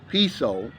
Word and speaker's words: peso: currency in the philippines it's called the peso or they pronounce it piso and right now the